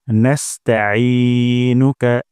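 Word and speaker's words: نستعينك: তারপর নাস্তাঈনুকা, এখানে আই গলার মাঝখানতে উচ্চারণ করতে হবে, হামজা উচ্চারণ করা যাবে না। এবং আই এখানে এক আলিফ টান দিব। ভিডিওতে দেখা যাচ্ছে রেড মার্ক, তার মানে এখানে ভুল হওয়ার সম্ভাবনা আছে। তাই এখানে আইন উচ্চারণ করব গলার মাঝখান থেকে।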